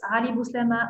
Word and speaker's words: Ali Bouslema: Sorry, I just say it wrong the first time. It's Ali Bouslema and Kiwi Startup.